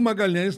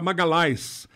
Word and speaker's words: Magalhães: o meu nome é de Magalhães eo Magalhães na Itália não é pronunciado LH não existe então era Magalhaes Magalhaes Magalhaes não existe nada pior do que